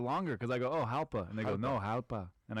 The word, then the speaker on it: Jalpa: You know Jalpa, that? Zacatecas? Yeah. Yeah, I've been there. Am I saying it right? Yeah, Jalpa.